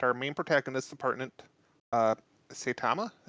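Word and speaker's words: Saitama: main protagonist Department uh satama is how you pronounce his name yep all right so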